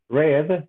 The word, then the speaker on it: read: the present is read the past is red like the color color red similar to that red